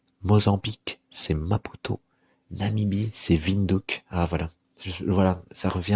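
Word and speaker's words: Windhoek: et je m'en souviens je me souviens de la prononceation c'était vindck parce que c'est c'est je sais plus si c'est néerlandais ou allemand je crois c'est allemand là-bas c'est c'est c'est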